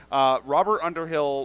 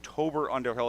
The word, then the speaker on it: Robert Underhill: Robert Underhill was spelt with a T, and I was calling him Tobert Underhill.